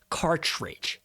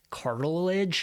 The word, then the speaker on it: cartridge: I asked her, I was like, hey, am I pronouncing this right? She's like, no, it's ink cartridge.